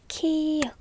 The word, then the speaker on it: 키읔: 1, 2 và âm ㅋ [k] tên là 키읔 .